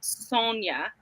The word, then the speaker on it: Sonia: My in real life best friend is Sonia with an I, but she pronounces it Sonia. Did I say that correct? And Sonia. my favorite boss is Yeah. Sonia. That's fun. that happens a lot. Phonetically, it's more song, but I won't get